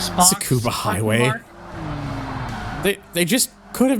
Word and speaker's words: Tsukuba: I've been hearing people say it's actually pronounced scuba. I always said Tsukuba because, you know, the U is there, but some people tell me it's actually just scuba. Like the T is silent.